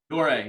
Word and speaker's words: Doré: Is it Doré or is it Doré? Doré, yeah. Doré. I said it right.